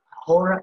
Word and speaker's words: ahora: The reason I'm not saying por ahora is because H is silent in Spanish.